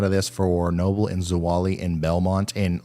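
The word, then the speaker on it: Zwolle: the core of this so Noble Louisiana and zawali that's how you pronounce that and uh to Many Louisiana is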